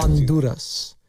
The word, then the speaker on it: Honduras: It's it's underneath that and it's right sandwiched between Anduras and Guatemala. This is why do you guys Honduras? You don't pronounce the H in Spanish.